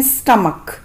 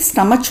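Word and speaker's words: stomach: पेट को बोलते हैं स्टमक स्टमक कुछ लोग इसे स्टमच बोलते हैं लेकिन इसका सही उच्चारण यानी कि सही प्रोनंसिएशन है स्टमक ढोंग करना प्रिटेंड प्रिटेंड रिश्तेदार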